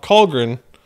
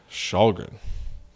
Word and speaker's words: Källgren: Not Källgren or Källgren or whatever. Eric Källgren.